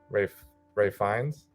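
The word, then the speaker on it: Ralph Fiennes: I mean, the performances are great across the board, specifically Ray Fiennes. Yep. I think is how he pronounces his name.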